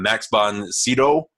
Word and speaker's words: Max von Sydow: So, Flash Gordon, 1980, Dino De Laurentiis production, directed by Mike Hodges, starring Max von, I'm going to say it wrong, Max von Sydow.